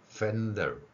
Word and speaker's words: fender: 계속해서 말씀드리는 것은 F소리를 히읗으로 하지 말고 윗니로 아랫입술을 물고 내는 소리니까 fender 이렇게 발음할 수 있다는 것이죠.